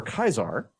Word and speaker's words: Caesar: and there's of course Caesar or Kaiser as he's mentioned in the game with the original pronunciation who is a interesting